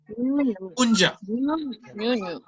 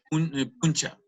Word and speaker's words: puncha: Punja. Se pronuncia punja. Sí, se escribe puncha. Pero igual también se puede pronunciar puncha. Pero lo correcto es punja.